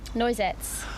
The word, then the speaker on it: Noisettes: Noisettes.